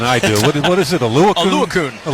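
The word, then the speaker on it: Oluokun: You you know how to pronounce the Yale kid better than I do. What is it? Alukun. Alakun is phenomenal.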